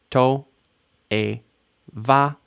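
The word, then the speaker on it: תועבה: O, e, a, 3 vowels, 3 syllables. To, e, va, toeva. Final stress. Toeva.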